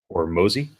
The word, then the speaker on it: Hormozi: I believe his last name is pronounced Hormozi.